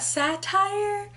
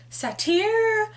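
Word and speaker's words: satyr: one of my roommates that I have been pronouncing satire wrong apparently it's not satire it is Satya so my apologies for those of you who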